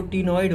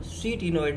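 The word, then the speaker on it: ctenoid: यहाँ पर जो स्केल्स होते हैं वो टीनॉइड होते हैं, सी टी ई एन ओ आई डी, यहाँ सी जो है साइलेंट है, टीनॉइड बोलते हैं इसको, सी टीनॉइड नहीं, टीनॉइड बोलते हैं।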